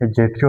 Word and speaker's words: adjective: Many people pronounce this is एडजेक्टिव, यहाँ पर मैंने आपको लिखा है लेकिन ये साइलेंट है, एडजेक्टिव।